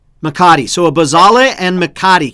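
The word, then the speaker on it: mecate: a bosale and mcca mccate uh can you recommend a good one how do you say that no it's mccain makati so a bazale and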